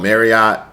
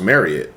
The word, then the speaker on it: Marriott: Some people call it Marriott, but I actually knew somebody that worked for for it and they said it's pronounced Marriott, so I'm going to say Marriott.